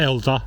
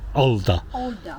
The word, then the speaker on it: alder: And I might have some alder, spelt with an A, not elder, alder.